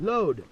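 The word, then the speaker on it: lode: So that's L-O, how you say it? Load. L-O, oh, right. L-O-D-E.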